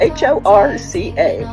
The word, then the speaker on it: Horca: That's spelled h o r c a and but pronounced Horca.